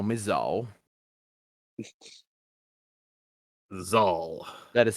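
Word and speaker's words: Zuhl: You may call me Zal. Zal. That is spelled with a U, an H, and then an L.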